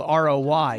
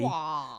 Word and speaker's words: Roy: His last name is spelled R-O-Y. Waugh. But it's Patrick Roy. No, Patrick Waugh. It's like Wario.